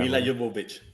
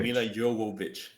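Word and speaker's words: Milla Jovovich: Mila Jovovich. That's her name. Mila Jovovich. Yeah. You got to pronounce it right.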